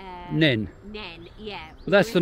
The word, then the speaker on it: Nene: Well, we say Neene, but we're not originally from here, so but locals say Neene.